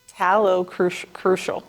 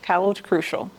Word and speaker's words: talocrural: And that joint is your talocrucial. Talocrural. Go ahead and pronounce it correctly now. Can you spell that again? Yeah, talocrural. Cruel.